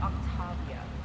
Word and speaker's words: Octavia: And it's pronounced Octavia.